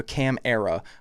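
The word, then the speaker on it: Câmara: It's It's Yeah, it's basically Camaro. It's Cam M A R A. So, cam era. I'm I'm assuming that's how you pronounce his last name.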